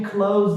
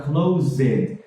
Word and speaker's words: closed: Toda vez que ele fala o ED, ele pronuncia o ED, a letra E e a letra D, sendo que são raríssimos os casos no inglês que a gente realmente pronuncia esse ED por completo. No passado, geralmente é um somzinho muito curto, ou de D ou de T. Por exemplo, closed é como